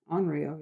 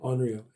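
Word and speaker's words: onryō: Did they pronounce that correctly? Yeah, it's Onryo. Yeah. Onryo. It's not an English word.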